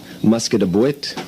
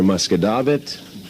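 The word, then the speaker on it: Musquodoboit: would have to be mispronouncing regional names of towns, i.e. Muscadabuit for Muscadabit, Shubenapity for Shubenacadie.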